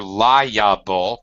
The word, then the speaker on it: liable: take him to court if you're liable again three syllables you can be sued